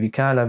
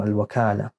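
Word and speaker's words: الوكالة: Die Vikala wird übrigens mit einem Fetha ausgesprochen, Al-Wakala.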